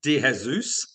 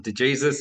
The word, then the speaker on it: De Jesus: be pronounced so yeah so it's meant to be Deus but in Australia and growing up it's always just been De Jesus it's easy and everybody can say it absolutely what um nationality